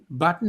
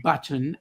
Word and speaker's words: button: in the word button button has two T's but you will hear them when they say it it's not button it's button.